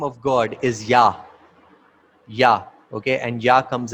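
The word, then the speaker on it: יה: You, He, and it is pronounced as Yah.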